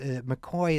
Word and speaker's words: McCaughey: And just to help inoculate our listeners against, McCoy is spelled McCaughey.